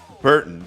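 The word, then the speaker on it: Berton: It is Burton, but not B-U-R. B-E-R-T-O-N.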